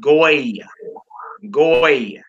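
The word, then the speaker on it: גוי: We got a wav with a dot, and we got a yod. We would pronounce that goy.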